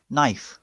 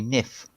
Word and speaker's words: knife: well maybe that's why k is on knife so that you don't say nif yeah no no because